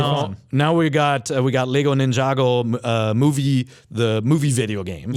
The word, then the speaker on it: Ninjago: Now we got Lego Ninjago the movie video game. It's actually pronounced Ninjago.